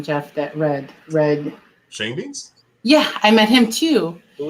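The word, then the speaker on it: Schoendienst: And then in the Red Shane Dienst is his name. I call it Show and Dice. Yes, but it's pronounced Shane Dienst.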